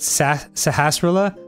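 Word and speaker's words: Sahasrahla: you know it's interesting it's just pronounced sahasrara like when you really look at it it's very obvious yeah but when you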